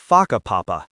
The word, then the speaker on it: Whakapapa: You'll hear locals casually talking about places like Wakapapa, pronounced Whakapapa.